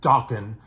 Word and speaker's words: Dokken: But, you know, they do it to Juan Crucier, legendary bass player of the hard rock band Dokken, which also rhymes with rockin', and of course a